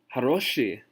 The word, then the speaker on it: хороший: Haroshi is the word that I have written right here. And you notice that I have the O bolded because the stress of the word is on haroshi.